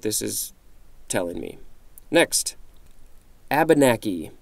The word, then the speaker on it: Abenaki: is telling me next Abenaki or a banach Abenaki I believe that's correct noun 1721 one a